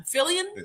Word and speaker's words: Fillion: Okay, so Draven West said Nathan, I don't know how to pronounce his last name. Fillion? It's just Fillion.